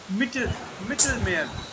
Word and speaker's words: Mittelmeer: So E is little suppressed and A is little elongated.